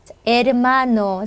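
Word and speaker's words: hermano: 리 발음으로 해주시면 되겠습니다 에르마노 자 혼자 했을 때는 이제 강하게 못 하니까 약하게 르르 살짝 해 주시면 돼요 에르마노 에르마노 자 이렇게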